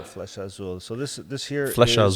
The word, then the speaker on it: Flecha Azul: This one here is Is this Felicia? How do you pronounce that? Felicia. Flecha Azul. Flecha Azul.